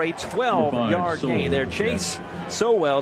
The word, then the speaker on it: Sowell: Chase Sowell, it's pronounced.